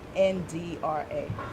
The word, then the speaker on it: Chandra: CHANDRA. CHA. NDRA. Okay, perfect. Thank you, Pronounced guys.